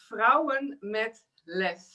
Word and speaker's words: Vrouwen met Lef: To pronounce it in the direct way, it's in Dutch. It is vrouwen met lef.